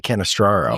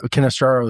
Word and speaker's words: Cannistra: You're Cannistraro. Yeah, it's nope. It's not. Cut It's off the completely R. Going to lead wrong. with Kool-Aid, It's not even how it's spelled phonetically. Mine? Yeah, Cannistraro is not. No, there's no. You have extra letters in there.